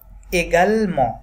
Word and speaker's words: également: এগাল ম, MEN এবং লাস্ট লেটার যেহেতু টিটা সাইলেন্ট থাকবে, তাহলে কি বলবো আমরা, également des animaux, ওকে।